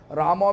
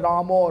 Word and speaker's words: Ramo: Rama means also Krishna. Today I have seen that our Sadananda Prabhu say, Bengali pronunciation Ramo, Ramo, not Ram, Ram.